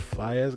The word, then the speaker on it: Faiyaz: All right, I listened to the Brent Faiyaz guy. That's how you pronounce his last name.